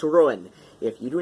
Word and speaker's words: Ruadhán: gelic I assure you it is pronounced ruin depending on your uh depending on the the uh the regional dialect of Gaelic one is speaking is also acceptable I will I will